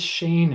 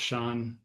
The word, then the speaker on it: Shane: You're probably saying that says Shane. Yeah, it's kind of weird. It's pronounced Sean, spelled Shane.